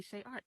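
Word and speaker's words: ShayArtz: And so I put a Z at the end of my name and I said, just call me Shay Arts. Like the Z is silent.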